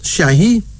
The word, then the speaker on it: Shahi: Shahi. Shahi. S-H-A-I-H-I. That is S-H-A-I. H-I, Shahi, is a Hausa of West Africa term of respect, meaning the knowledgeable one, a professor or a teacher.